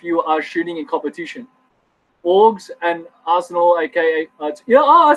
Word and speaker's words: AUG: Guys, it's called an acronym. You pronounce the acronym together. You don't say AUG, but you can if you want. So yeah, in Australia, we use the style AUG or style org.